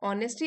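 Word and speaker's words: honesty: When we show kindness, ऑनेस्टी, H silent है, ऑनेस्टी and compassion.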